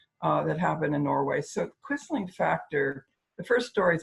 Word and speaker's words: Quisling: Okay, so it's pronounced Quisling, the Quisling factor.